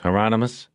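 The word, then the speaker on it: Hieronymus: He looked at Bosch through the camera and said, "Remember the promise, Heronmus? Rhymes with anonymous," Bosch said.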